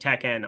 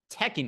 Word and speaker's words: Tekken: love teken so much the way that you are putting the emphasis on syllables is driving me crazy thank youen thank you thank you Tekken you goofball who the [ __